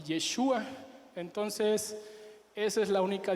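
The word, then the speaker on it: ישוע: La única diferencia es que Jesús no contiene la letra de Hei, pero Josué sí, y la pronunciación, aunque no me sale muy bien, es Yehoshua y Yeshua.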